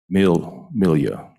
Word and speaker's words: Melia: Milia. M-E-L-I-A. This question from Mr. Milia. Milia. It's like Amelia Earhart, just no A on the front.